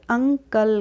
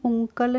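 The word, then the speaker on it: uncle: है अ करना है यूएन सीएल तो हम इसको पढ़ेंगे अंकल क्या पढ़ेंगे इसको हम अंकल पढ़ते इसको हम उकल नहीं पढ़ते हैं तो अ से पढ़िए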